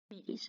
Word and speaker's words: Archimedes: Wait, let me check my pronunciation. No, Archimedes.